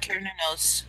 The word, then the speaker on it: Cernunnos: Just going the Roman way. They didn't have the S sound for the C, so.